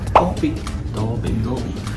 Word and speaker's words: Dolby: 卡斯那个英文怎么读？Dolby。